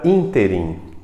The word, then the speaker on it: ínterim: por exemplo na palavra ínterim que é uma palavra que sempre vai ser proparoxítona O que quer dizer